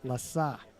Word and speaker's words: Lasse: Actually, it's pronounced Lassa.